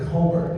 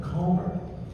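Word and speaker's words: Colmer: Collins was it was a lot easier to pronounce than Comr, which I can never pronounce. So I always pronounced it Comr. People would be like C O L M E R. Like no, no, no, no. Comr.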